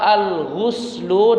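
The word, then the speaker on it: غُسل: Tapi kalau al-ghuslu dengan dhammah, maka itu artinya adalah mandi besar. Jadi jangan sampai salah membacanya.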